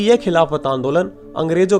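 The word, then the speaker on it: Khilafat: आंदोलन यानि calibrate moment अब क्योंकि अंग्रेजी में लिखे जाने पर इस का हिंदी उच्चारण खली फाइट हो जाता है अरबी मैं खली फाइट को खलीफा लिखते हैं तो कांग्रेस ने बड़ी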